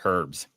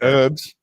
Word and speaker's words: herbs: like Europe or something in America you don't pronounce the h it sounds really weird to hear the word herbs yeah you say herbs herbs yeah we say